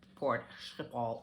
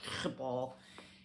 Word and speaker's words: Schiphol: Netherlands, which that airport, Schiphol is how they pronounce it, Schiphol, is supposed to be a hot mess.